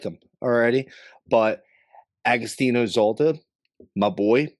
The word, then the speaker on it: Zoida: How do you say it? Zoida. Zoida, and I said Zolta, but what are you gonna do, dude?